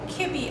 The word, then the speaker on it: kibbeh: In today's video, we are going to be making kibbeh, or kibbeh as some people pronounce it.